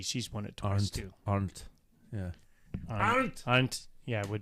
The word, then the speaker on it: Arndt: I'm going to try and pronounce it. It's German. It's Ernat, Arndt. She's won it twice too. Arndt.